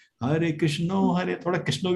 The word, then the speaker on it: कृष्ण: कृष्ण, हरे कृष्ण कृष्ण कृष्ण हरे हरे, हरे राम राम Ram Hare Hare, perfect pronunciation है, ठीक है। हरे कृष्णा आप गलती कर रहे हैं, लेकिन क्या है